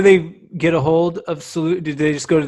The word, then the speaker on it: Soulutions: It's kind of like fun when people realize, because like it's soul solutions. Like these are solutions for your soul, because it's not just about health and wellness.